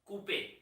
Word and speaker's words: Couper: Not Couper. R is silent. That is called Couper.